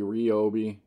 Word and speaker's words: Ryobi: now here's another product by Ryobi rii however you want to pronounce it does anybody pronounce it rii just wondering I've always pronounced it Ryobi but anyways they have